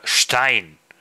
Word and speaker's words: Stein: little bit sharper because if you say Stein Stone in German uh you have one s but you uh uh uh pronounce it like uh sh s c h uh yeah like said sh uh Stein even though you are